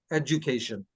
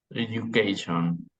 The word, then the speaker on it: education: usually that I know it's a edu and when we pronounce it it is more of a Jew Jew education education what do they mean